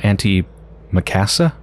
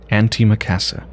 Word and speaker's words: antimacassar: truly mind-boggling cryptic crosswords okay so that word auntie Macassar sir ever pronounced apparently it's pronounced - auntie Macassar i guess like a silent r here's the pronunciation thing auntie Macassar it's a piece of cloth put over the